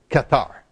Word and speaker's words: Cathares: worship Kar all right the English word is cathari but we were missionaries in kathar country and I learned katar so you're going to put up with my French pronunciation of it but what's interesting